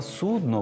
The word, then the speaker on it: судно: все одно все одно з наголосом на О слово судно в українській мові немає і ніколи не було і Ось вам фраза для запам'ятовування наголосу російське судно пішло на дно це про крейсер Москва